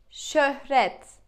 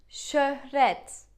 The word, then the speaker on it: Şöhret: Okay, let's try to pronounce this word. How would you say it? Şekil. Şekil. And this word. Şöhret. Şöhret.